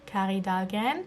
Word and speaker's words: Kari Dahlgren: So I found a video on YouTube by a YouTuber called Kari Dahlgren, which is actually the Norwegian pronunciation of it, but she's actually American, but she has a very Norwegian name.